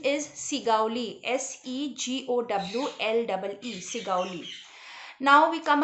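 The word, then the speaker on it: Segowlee: of a big house in the town of sigali so you it can come in the fill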